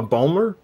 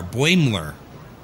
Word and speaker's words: Boimler: correctly either is it is it a bulmer no it's b o i m l e r buenler boingler yeah which i think is